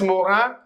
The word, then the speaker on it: Morin: Mais Morin, it is French name. So as I told you yesterday also in my previous video that IN always sounds like un, Morin.